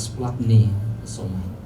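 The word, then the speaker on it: σπλαγχνίζομαι: gampang untuk kita mencatatnya, karena memang tulisannya banyak sekali huruf matinya, tetapi dibacanya adalah splagchnizomai.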